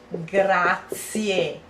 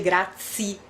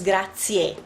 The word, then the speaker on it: grazie: Thank you in Italian is grazie. Americans tend to say grazie. No, it's not grazie, it's grazie, because you read everything the last two.